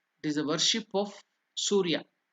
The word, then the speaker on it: Surya: That is after the Gandhadinam Archanam, it is the worship of Surya. Surya Arghya Pradhanam. The step, name of the step is there, you can see. Su is Dirgha, elongated. Surya.